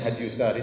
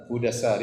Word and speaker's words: Hudassari: Saya nukilkan dari kitab Hudassari, sebagian orang bacanya Hadyusari tetapi yang benar Hudassari, sebagaimana ditashkil, diberi harokat langsung oleh Ibnu Hajar rahimahullah, penulis buku.